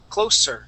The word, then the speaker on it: closer: being is that you're saying closer using a z sound we want to use an S sound and say close closer try that please Closer